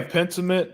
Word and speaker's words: Pentiment: Yeah, Pentiment.